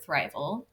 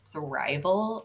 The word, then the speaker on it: thrival: on Instagram at survival thrival um that's s v i v a lcore thrival t h r i v a l kind of like survival and thriving but it me it rhymes with survival um and the reason